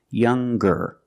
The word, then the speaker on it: younger: r or with est we're going to pronounce the G sound the hard G so it's younger G with a G sound stronger the youngest again